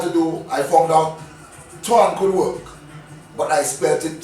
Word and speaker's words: Twan: what I had to do I found out Twan could work but I expected t-o-i-n-e as a